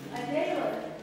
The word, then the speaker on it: Adela: Adela is how you pronounce her name.